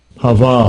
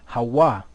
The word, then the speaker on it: Hava: Hava. So we know that there's no V in the Hebrew, so really what should it be? Hawa.